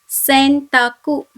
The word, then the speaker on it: sentaku: So the word is pronounced as bento, which is lunch box. My second example is sentaku.